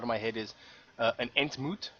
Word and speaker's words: entmoet: Well, it's spelled it's ent, like the ent trees, and then M-O-E-T, like ontmoet, entmoet.